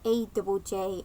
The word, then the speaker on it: Ajjay: It's just looking at it, it's spelled A J A Y.